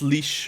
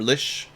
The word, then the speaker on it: lich: I guess Lich is common pronunciation, but I believe it's Leash or Lish originally. But Lich with the hard ch seems to have taken hold most places.